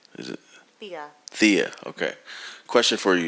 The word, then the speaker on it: Thea: Sorry if I mispronounced your name. Thea? Is it? Thea.